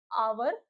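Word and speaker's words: hour: ही बताया था मैंने कि जो आवर में एच जो होता है वो साइलेंट होता है। ऑनेस्ट में भी हमारा एच हमारा साइलेंट होता है। ऑनर में भी हमारा एच साइलेंट होता है। हम इसको आवर ऑनेस्ट और ऑनर पढ़ते हैं।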